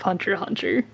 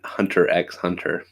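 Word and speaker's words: Hunter × Hunter: Oh, Maybe that's the X in Hunter X Hunter. oh, you don't pronounce the X.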